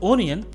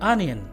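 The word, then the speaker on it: onion: प्याज को लोग इंग्लिश में बोलते हैं ओनियन, जो कि गलत है। इसका सही प्रोनाउंसिएशन है अनियन, अनियन।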